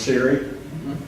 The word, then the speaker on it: Siri: you the uh Forest that's pronounced Siri uh to activate that